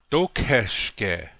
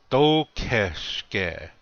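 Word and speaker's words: tókheškhe: Dokeshke. This means how. Notice that the accent is on the first syllable. Dokeshke. Repeat after me, please. Dokeshke.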